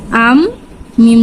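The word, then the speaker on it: أَمَّا: গুন্না হচ্ছে নাকের বাসি থেকে উচ্চারিত হয় এবং ন্যূনতম 2 সেকেন্ড ধরে রাখতে হবে। তাহলে আমাদের উচ্চারণ হবে আন্না, হামজা নুন জবর আন, নুন জবর না, আন্না। হামজা মিম জবর আম, মিম জবর মা, আম্মা।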